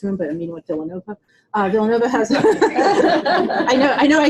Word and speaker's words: Villanova: girl who applied to Villanova, we were talking about it and she kept calling it Villanova, because you don't pronounce the L's. Yeah. And she goes, Villanova, and I'm going, where?